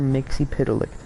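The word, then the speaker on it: Mxyzptlk: to say his name Mr Mixie Pik is how DC is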